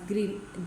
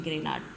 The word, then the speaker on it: Grignard: ए जाएंगे ठीक है कुछ लोग कहते हैं की यह साइलेंट होता है तो ये आपके पास ग्रीन जो जी इसके अंदर ये साइलेंट होता है तो ये आपके